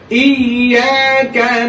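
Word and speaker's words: إِيَّاكَ: ইয়েটা দুইবার উচ্চারণ হইবে। ইয়া, আরে ধরছে কি? আরে ই, ইয়ার উপরে জবর আ, ই, ইয়া। এখানে টেনে পড়ার ব্যাপার কিন্তু না। এখানে আসতে হলো অ্যাকচুয়ালি ওই দুইবার উচ্চারণ হইবে স্যার, দুইবার উচ্চারণ হইবে।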